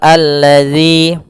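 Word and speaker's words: الذي: alif lam syamsiah yaitu Alif dan lam yang dia ditulis tapi tidak terbaca maka di sini langsung ke huruf lam yang berhakat tasydid maka Alla nah tanda ini di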